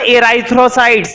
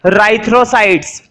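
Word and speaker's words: erythrocytes: ई silent है, ये मत पढ़ना एराइथ्रोसाइट्स, नहीं गलत हो जाएगा। इसको हम पढ़ेंगे राइथ्रोसाइट्स, ठीक है।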